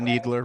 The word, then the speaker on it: Kneedler: Uh no no just Needler. Right. Spelled with a K.